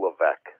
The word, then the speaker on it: Levesque: It's Levesque.